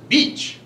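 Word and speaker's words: Bitche: spelling is actually vit c CH e it's pronounced beach it was liberated by the men of the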